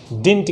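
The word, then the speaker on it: didn't: कुछ लोग इसको डिडंट पढ़ते हैं, ध्यान देना है इसका जो प्रोनाउंसिएशन है, इसको हम कैसे प्रोनाउंस करेंगे, तो इसको हम कहेंगे डिडंट, डिंट कहेंगे, ना कि डिडंट कहेंगे।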